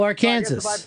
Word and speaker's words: Arkansas: you live now I live in Arkansas Oh Arkansas that's fantastic I was just gonna say ours they pronounced it are care or I should pronounce